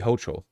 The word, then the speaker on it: Hochul: Kathy Hochul. Hochul. It's got to be Hochul, not Hochul.